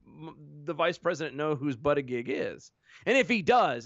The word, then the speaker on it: Buttigieg: You mean like, hey, Pete Buttigieg, which is apparently how you pronounce his name. Hi, Pete Buttigieg.